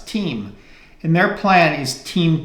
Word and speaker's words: TIM: is the company Tim that we would pronounce Tim but the Italians pronounce team and their plan is